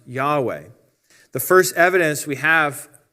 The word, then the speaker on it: Yahweh: the original Hebrew God's name which is commonly pronounced Yahweh the first evidence we have on the planet